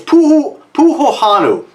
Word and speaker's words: Puhahonu: So this is actually called, I'm trying not to screw this up, I pronounced this several times already. It's Puhahonu, and it's named after what's recognized as the Earth's largest volcano.